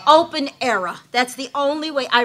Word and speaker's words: Aira: that's pretty much it and even though it's pronounced IRA it's you have to say era C open era that's the only way I renamed thing and